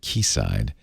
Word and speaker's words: Quayside: proposal for kc side i'm saying it right ki side right you said it's spelled quayside but as i learned quickly that's key like the british natives call it key side it includes a centralized